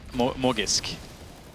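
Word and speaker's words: Magisk: So someone messaged me on Reddit, Halvor, and said that Magic, you say his name, properly, the proper way to say his name is Morgisk.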